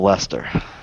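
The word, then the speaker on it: Leicester: Manchester England England North my boss was from Le Lester yeah liester I learned early on how to pronounce it correctly not Worchester Wester yeah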